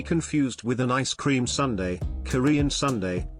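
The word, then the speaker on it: 순대: Not to be confused with an ice cream sundae, Korean sundae, pronounced Sundae, is a blood sausage that's usually served in slices with the dipping salt.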